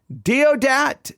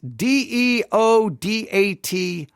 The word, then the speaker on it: Deodat: don't know exactly how to say his name deodat d-e-o-d-a-t Lawson deodat Lawson now he's important deodat Lawson you may